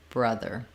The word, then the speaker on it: brother: ER and then sneak your tongue forward for your th ER the brother you notice that I